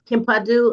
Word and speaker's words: Kimpadu: Kempu, please be excused. You may. And it's Kimpadu. I think I was um I was pronouncing it wrong.